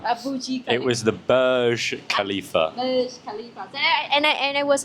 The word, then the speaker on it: Burj Khalifa: Yeah, so he's corrected me on spot when I pronounce the building. When I talk about Dubai, remember? I say Burj Khalifa. And then he corrected me. What did you say? It wasn't the Burj Khalifa.